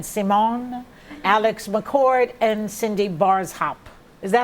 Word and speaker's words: Barshop: Zarin, Kelly Ben Simon, Alex McCord, and Cindy Barshop. Is that how you say it? Barshop. Barshop, Yeah.